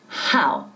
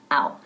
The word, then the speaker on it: how: Estoy pronunciando bien fuerte la H al principio de how. How. Nunca ow. How.